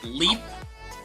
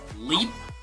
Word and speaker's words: leap: It's pretty much the same story, a little bit more wider when you produce the sound, and a little bit more closed when you're pronouncing the other word. Leap, lip.